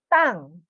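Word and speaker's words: 땅: You pronounce it strong, ta, but not aspirated na ha, di ba? Pag aspirated kasi ang T, ha, helepon, yan ang aspirated.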